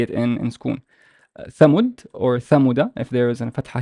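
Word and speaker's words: ثمود: So that means that the waw is a long vowel. It's not a short one. So how would I pronounce it? Thamud, Thamud, Thamud.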